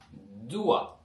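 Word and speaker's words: dois: ரு துவா ஓகே ரு துவா இதை வந்து நாங்கள் ரு துவா என்று தான் வாசிக்கிறோம்.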